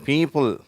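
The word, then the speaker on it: people: அதில் முதலாவது அந்த பி அப்படிங்கிறத, பீப்புள், அதை கொஞ்சம் அழுத்தம் கொடுத்து சொல்கிறோம். அதுக்கு குறியீடு தான் இங்கே கொடுத்துருக்காங்க.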